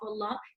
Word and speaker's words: Allah: the name of Allah if there is a feta or a dumber before the name of Allah we pronounce their lamb in the name of Allah heavy okay we also said